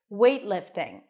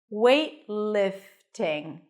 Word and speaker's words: weightlifting: and a T but when the T appears at the end of a word or before another consonant it's a h t that means you bring the tongue up and you wait and then you release it to the next sound in the in this case the L wait lifting so transition from the T to the L directly weightlifting weightlifting weightlifting I'm